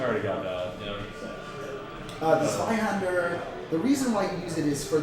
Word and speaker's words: Zweihander: Zweihander? Zweihander, right? It's spelled like the German Zwei.